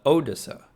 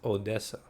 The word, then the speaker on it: Odessa: And by the way, growing up, I would call Odessa Odessa. I thought it was Odessa, but apparently it's pronounced Odessa. So like the accent's in a different place there.